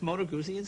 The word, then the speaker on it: Moto Guzzi: A Moto Guzzi. Did I pronounce that correctly? That's Moto Guzzi?